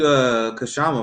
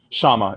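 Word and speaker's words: Kshama: You the one you interviewed Kashama, right? Am I saying her name right? Shama. The K is silent. Shama.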